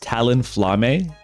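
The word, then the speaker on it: Talonflame: or the other or if not both it's pronounced Talon flame yeah I know that that's exactly how I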